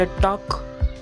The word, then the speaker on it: talk: त्याच्या पुढचा शब्द टॉक, स्पेलिंग आहे TALK. एल सायलेंट, उच्चार होतोय टॉक.